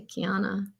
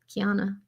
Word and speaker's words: Keanu: Oh, I just say Kiana. Keanu. There's no on it? You're forgetting the O. Keanu. There's a U at the end, but it's...